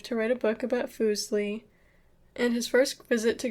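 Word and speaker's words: Fuseli: and talked about foosley foosley pronounced foosley was a neglected figure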